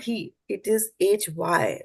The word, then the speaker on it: ह्य: not he it is Hy right so it has to be pronounced like my has pronounce my right